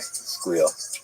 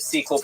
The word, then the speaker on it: SQL: It's squeal. Squeal. You squeal. Squeal. Squeal. I think it's the correct way. Squeal. I did sequel because I didn't, you know, I didn't know the audience.